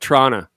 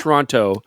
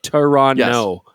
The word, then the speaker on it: Toronto: r torono Toronto but it's almost like you dropped the T at the end you say like tono yeah t that's I don't like that toron you don't like that